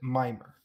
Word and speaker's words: Mimir: falling from the sky called Mimir, or as they pronounce it, Mimer.